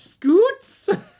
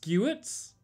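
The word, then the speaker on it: scute: Scoots. People say that's scoots. It's pronounced skews.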